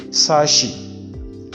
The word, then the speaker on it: sachet: adopted in english language is ch other pronouns as sh because as our french pronounce it so we don't say chef we say chef we say shifon we say suffer sachet and you say sashi so this is chassis not chassis and then the next one